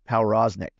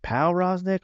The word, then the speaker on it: Powroznik: I was like, is it Powroznik or Prosnik? I was like, I'm going to go Pow. I'm going to give it a little, I'm going to put the emphasis on the wrong syllable there, you know?